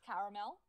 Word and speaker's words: caramel: I've heard the caramel, but it's caramel. Oh, the caramel. Like it's two syllables. It's like it's caramel, but like not a mel.